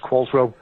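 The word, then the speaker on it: Qualtrough: they said Monk's origin q-u-a-l-t-r-o-u-g-h it's pronounced qualswell and he said I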